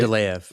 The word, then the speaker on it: Mendeleev: Mendeleev. Yeah. Mendeleev.